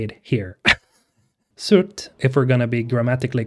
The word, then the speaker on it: Surt: surt which is how you say it here surt if we're gonna be grammatically correct is the